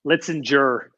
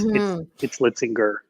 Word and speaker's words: Litzinger: Litzinger. Okay. I get the soft G often, but it's Litzinger.